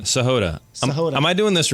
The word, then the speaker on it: Sahota: Sahod.